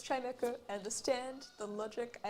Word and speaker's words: Chimecho: I still cannot believe that the Pokemon Chimecho was pronounced how it is, because I was so adamant that it was Chimicho for so long.